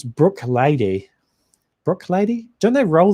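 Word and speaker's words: Bruichladdich: I'm on good authority to pronounce Brook Lady.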